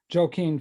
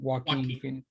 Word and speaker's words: Joaquin: it from the the joker movie with um joaquin phoenix i may have mispronounced his name joaquin joaquin thank you randy that's why you get